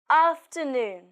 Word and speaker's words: afternoon: good afternoon ha noon afternoon pay attention to the sound ah ah to noon in this word the stress is on noon after noon good afternoon